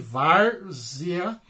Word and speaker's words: várzea: eu tenho palavrinha aqui várzea também eu tenho né uma paroxítona a penúltima é mais forte várzea e aqui eu tenho